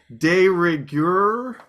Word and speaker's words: de rigueur: De rigueur?